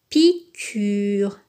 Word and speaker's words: piqûre: dernier exception regardez piqûre ici le U se prononce donc on dit piqûre une piqûre il y